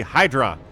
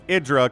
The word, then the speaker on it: Hydra: right going to be Hydra which is actually pronounced idra kind of ruins the